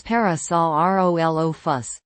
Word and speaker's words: Parasaurolophus: It's parasol o fuss.